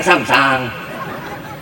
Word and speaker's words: Samsung: pokoknya merk apa Samsam tulisannya Samsung bacanya kan sangsang Berapa belinya 12 juta